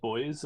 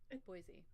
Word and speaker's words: Boise: I'm not sure how to pronounce it. Is it Boise or Boise? Boise.